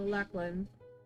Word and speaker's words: Lachlan: Lachlan, is that correct? Yeah. Pronouncing? Yeah. So Lachlan, the last memory you had of him was